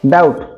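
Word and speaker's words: doubt: Knife, knife knife তো কোণ এন কেটা সাইলেন্ট হেলা। ডাউট, ডাউট ডাউট কোণ উচ্চারণ হচ্ছে বিটা এটি সাইলেন্ট হচ্ছে কি না, বিটা সাইলেন্ট।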